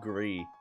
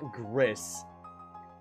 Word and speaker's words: Gris: game it's called gree not Gris for you douchebag Americans that like to pronounce things phonetically and